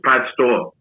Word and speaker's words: Pastore: So Daddy said it's Pastore. He dropped the E. He didn't take the E away, but he never pronounced it again.